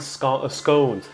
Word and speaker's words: scones: Yeah, this is homemade scones. So luckily here they pronounce it the same as the Americans. It's scones, not scones.